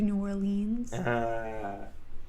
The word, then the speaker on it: New Orleans: And then to rhyme with jeans, she says, we flagged a diesel down, rode it all the way to New Orleans.